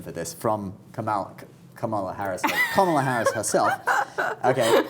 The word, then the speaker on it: Kamala: I think if you tell Trump, hey Trump, it's not Kamala, it's Kamala, he's probably not going to go for it, I don't think.